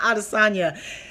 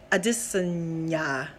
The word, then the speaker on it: Adesanya: It's not Adesanya. If you listen to the way he says his name, it's not Adesanya. It's Adesanya. Adesanya. Adesanya, I believe is what it is.